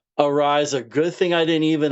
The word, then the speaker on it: Araiza: Faith and I'm going to pronounce your last name wrong, Mike. How is it? Sure, Ariza. Ariza, good thing I didn't even attempt to pronounce it.